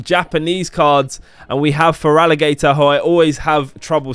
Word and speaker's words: Feraligatr: But there you go, I can't say it. Feraligatr? Yeah, that's how you say it.